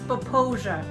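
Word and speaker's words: Popo Agie: We are at the the rise of the Popo AI. I don't know if I'm saying that right, Bryce. It's pronounced poia, but it's uh at Sinks Canyon State Park.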